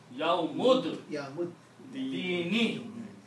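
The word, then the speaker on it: يوم الدين: Do not pronounce this alif here. And a yawmud, not ad, yawmud, dini, yawmud, dini. Okay, so the word now became, just for the understanding, we'll write one more time.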